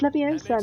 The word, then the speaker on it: Leviosa: someone's eye out besides you're saying it wrong it's leviosa not letting you start